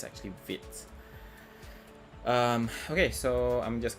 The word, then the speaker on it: Vite: mistaken the pronunciation as white because you know you see the word that's the spelling of the word it seems like it's vibe but it's actually french so it's actually fit um okay so i'm